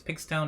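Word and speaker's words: pxtone: I'm pronouncing that correctly it's spelled out p-x-t-o-n-e so I think it's Pig Stone I think it's like for Pixel and tones because it was basically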